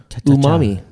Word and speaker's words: umami: good okay so um is pronounced um o o m a o o m e Umami Umami good figure a fleshy